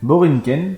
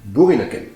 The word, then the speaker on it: Boerinneken: Borinken. Oui, puisque le son OE en néerlandais se prononce OU. Borinken. Bourrinken.